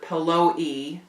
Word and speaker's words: Pello: Always called Mary Lou's husband, my grandfather, his name was Edward Pello, always called him Mr. Pello-E. She'd pronounce the E at the end.